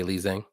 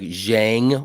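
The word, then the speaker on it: Zhang: it's actually pronounced like Jang wh like with a j instead of a z but I so I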